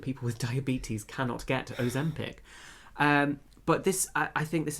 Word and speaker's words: Ozempic: Yes, Ozempic.